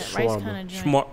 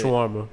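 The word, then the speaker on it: shawarma: Shwarma. What do you say? Shwarma.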